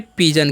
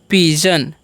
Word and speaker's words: pigeon: अब देखिए क्या लिखा हुआ है, PIGEON, तो यहाँ पर भी GE है। ठीक है, तो यहाँ पर जी का जो उच्चारण है ज हो जाएगा। ठीक है, तो इसे हम क्या पढ़ेंगे? पिजन। क्या पढ़ते हैं? पिजन।